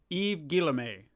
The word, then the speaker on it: Yves Guillemot: Yves Guillemot.